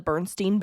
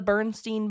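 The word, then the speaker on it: Berenstain: Bears so maybe and that's always how I've heard it said is The Bernstein Bears or like the barenstein Bears and so maybe that's why we're a little confused on it is because that's how it's said but this is basically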